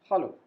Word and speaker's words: hallo: Our first expression is hallo. There is a slight change in the pronunciation. In English, we say hello, but in German, we say hallo.